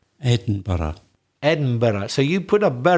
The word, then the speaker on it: Edinburgh: We hope you're still enjoying life in Edinburgh and you feel a bit better about understanding the Scottish accent.